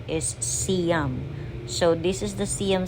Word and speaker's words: Siam: most of the people I hear them Uh pagpronounce sa as sayam But some of them siam but if you check sa Google Uh correct pronunciation is siam so This is the cam square sometimes They